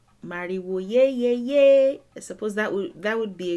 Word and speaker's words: Mariwo ye ye ye: That is how it's said in Cuba. Mariwo ye ye ye.